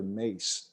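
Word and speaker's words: Mais: Wisconsin football has a player, his name is Tyler Mace. It's spelled M-A-I-S. For broadcast, I spell it M-A-C-E.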